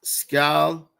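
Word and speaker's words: skol: Um, the term is scowl.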